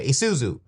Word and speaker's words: Isuzu: Isuzu. Yeah, Isuzu.